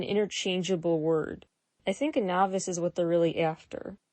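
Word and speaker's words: naevis: between your novice and your ey novice spelled n AE V is kind of a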